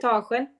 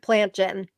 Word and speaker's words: Plantagen: How do you pronounce it? Plantagen. Oh, to me it looked like plant gen.